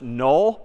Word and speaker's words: NULL: couple weeks we're going to see another word pronounced null but spelled n l l left hand wasn't